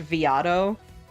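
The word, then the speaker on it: veado: Because a thing you can do, I think, in Viato too, which I did check, it is pronounced Viato, because it's Portuguese, I believe Portuguese, for like a young deer, and that's also slang for like a twink.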